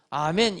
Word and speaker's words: 아멘: 이거는 히브리 말인데 헬라어로도 아멘 이렇게 발음을 해요.